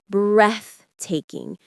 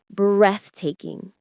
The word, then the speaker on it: breathtaking: It's a soft sound like in three. Breathtaking. Say it with me. Breathtaking.